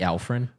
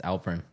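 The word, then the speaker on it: Alperen: uh Did you say Alfred? Alfred. It's Alprin. Alprin. It's with a pre, you know, with a P.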